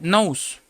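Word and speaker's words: νοῦς: que es una palabra que se pronuncia nose, que quiere decir intelecto o mente humana, también significa pensamiento, el sentido o la voluntad.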